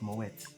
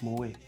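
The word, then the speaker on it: Moët: When I started hype, I was pronouncing Mowe as Moet. It's Mowe.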